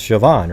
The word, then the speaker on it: Siobhan: once you know that it's pronounced shoban right right Colin but just looking at it most human beings aren't going to go oh yeah that's Siobhan right you admit that right